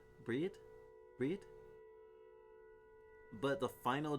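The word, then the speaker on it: Bríd: A famous Irish saint, is pronounced with a long EE, similar to the English word breed. Brid. Breed? Breed?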